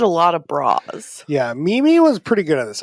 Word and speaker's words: Mimi: Yeah, and you'd spell that M-I. Yes. Yeah. It's really weird that it's an I, but it says E.